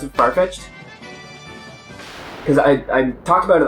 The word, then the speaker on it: Farfetch'd: Did I ever tell you about my friend of mine who doesn't pronounce it Farfetch'd?